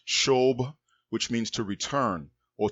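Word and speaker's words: שוב: the verb is sha wa ba which is pronounced shobh which means to return or to turn back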